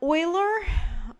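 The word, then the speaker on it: Euler: Um Oiler that's Oiler spelled like that came up with his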